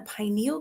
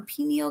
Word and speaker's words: pineal: And it's decalcifying the pineal gland or pineal gland. People pronounce it differently.